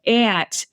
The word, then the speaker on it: aunt: So when you say you know ant, that's an older pronunciation than aunt. Aunt is only basically a 19th century pronunciation.